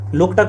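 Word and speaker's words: Loktak: अगला प्रश्न है ना, लोकतक एक डाइस है, लोकटक होना चाहिए, लोकटक चूंकि ये झील है, आप सबको पता होना चाहिए, है ना।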